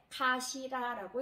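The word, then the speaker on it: かしら: 요거를 읽으실 때 가시라라고 읽습니다. 가시라. 자, 머리두는 아타마, 가시라 이렇게 훈독으로 발음을 하시면 되고요.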